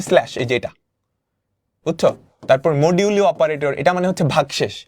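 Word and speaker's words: modulo: মানে হচ্ছেফাই মডিউল মডিউল এটার উচ্চারণ হচ্ছে মডিউলু এটা মানে হচ্ছে পাচকে দুই দিয়ে ভাগ করলে ভাগশেষ পাচকে দুই দিয়ে ভাগ করলে ভাগশেষ কত?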